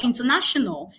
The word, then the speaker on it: international: And the answer is that stress for international is placed on the penultimate syllable. On the penultimate syllable, the next syllable to the syllable that has the ION, and that would give us the answer to be C.